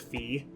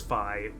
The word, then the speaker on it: Fi: he's like in love with Fee or Fi. I guess the most people agree the right way to pronounce it is Fi.